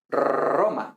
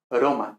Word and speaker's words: Roma: principio de palabra entonces por ejemplo nosotros esto pronunciamos roma igual que arroz pero latín al principio de palabra sería broma igual que aro aro broma o aroma